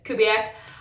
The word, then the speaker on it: Kubiak: They have brought on Gary Kubiak, I believe is the fellow's name, the correct pronunciation, Kubiak.